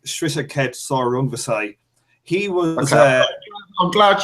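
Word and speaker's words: Srisaket Sor Rungvisai: I'm going to say this one properly because everybody fucking doesn't pronounce this. Wisaksil Wangek Shrishakhet Sorungvasai.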